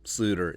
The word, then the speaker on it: Sloter: Yeah, I fully understand that our love for Kyle, Jerome, Ezekiel, Sluter, it's a Dutch pronunciation.